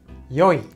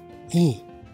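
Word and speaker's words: 良い: 良い。良い。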